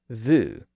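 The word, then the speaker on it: vous: does that today think about the French word Vu which means you it's spelled v u s and the French word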